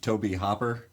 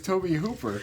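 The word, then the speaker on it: Tobe Hooper: Because we just kind of glazed over the fact that you called him Toby Hopper.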